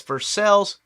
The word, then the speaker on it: Versailles: But then again, I live in Kentucky, where it's Versailles, not Versailles.